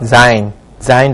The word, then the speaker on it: sein: 이거 s 모음 앞에 있으니까 항상 z 발음 난다는 거 sein 동사인데요.